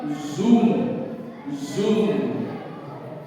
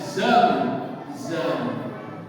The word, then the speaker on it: Zamzam: gayanya gini sambil mengatakan Zoom Zoom atau bacanya zam zam zam Itu bukan bahasa